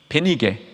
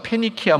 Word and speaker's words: 페니키아: 이 지역 자체를 옛날부터 부르던 이름이 있었는데 그 이름이 베니게, 혹은 뭐 영어식으로 좀 발음하면 이 페니키아입니다. 여러분, 세계사 시간에 아마 공부하신 분들은 페니키아 문명 들어보셨을 거예요.